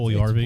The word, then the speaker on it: Puljujärvi: I'm not pronouncing that last name. That's, Puljujärvi.